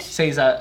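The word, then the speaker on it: 星座: It's Seiza. Seiza Change? Seiza, meaning constellation.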